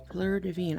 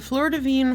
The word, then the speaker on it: Fleur de Vigne: Fleur de Vigne. I'm gonna say flower of the vine. Fleur de Vigne. I think I'm pronouncing that correctly because the G is silent. French syntax. Anyway, it's a, as far as I can tell, a perfume.